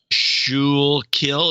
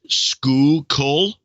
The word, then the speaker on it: Schuylkill: Shul kill is skoo kol.